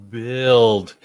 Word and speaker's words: build: was like okay build is a tricky word there's a u in there that makes no sound because i wasn't gonna make it i wasn't gonna be like no guess yeah right because because phonetically you hear it it might be b-i-l-d yeah but you got to teach them that in grammar there's there's it's not ill it's build there's that upward inflection